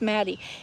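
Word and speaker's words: Mattie: Noah says, hold on, who's Maddie? M-A-T-T-I-E. I know I pronounce it with a northern accent.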